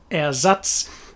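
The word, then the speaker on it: Ersatz: the german for replacement erzatz the pronunciation got lost along the way difference it's that very clear german e that is the same in every situation it's an a a sound nice big open mouth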